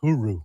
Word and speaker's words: Hyry: So and the other guy, I think it's pronounced Huru. Huru, yeah. And it's even though there's like a C in there. I don't know if there's a C in there, Duke. It's just Hyry.